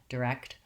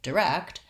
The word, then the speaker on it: direct: Incorrect is another example, correct, direct, of that KT sound. So watch that both your K and your T sound are there in the word direct. And also the first syllable is lax and short. It has the lax vowel I, direct.